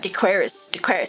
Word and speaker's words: Decoris: Dequaris.